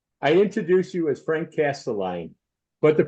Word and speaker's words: Castiglione: you yes sir I introduce you as Frank casteline but the pronunciation and the spelling is Castle Leon that's right why the difference well you know